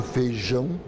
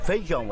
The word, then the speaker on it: feijão: A gente engole o I, né? Em muitas regiões, a vogal I, quando está com outra, desaparece.